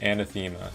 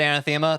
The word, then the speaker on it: Anathema: is the history of Anathema. If you want to pronounce it anthemma, that's fun. It's a common misprononunci.